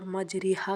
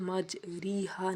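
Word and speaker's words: مَجْرٖىهَا: آیا ہے، ٹھیک ہے۔ اور مجریہا کا تلفظ مجریہا نہیں بلکہ قطرے کے رے پر مجریہا ہے۔ اگلا سوال ہے لا تأمنا کو پڑھنے کا کیا طریقہ ہے؟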